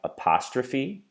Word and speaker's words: apostrophe: then see right here has four syllables and this one's going to be quite difficult so let's say apostrophe apostrophe apostrophe apostrophe we can hear that the stress is on the second syllable ' we have the